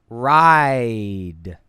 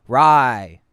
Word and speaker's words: ride: The end of the word, ride. The D Yes. at the end of ride. That D, rye. Rye means rye, like the wheat.